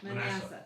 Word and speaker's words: Manasseh: Manasseh? Manasseh, thank you.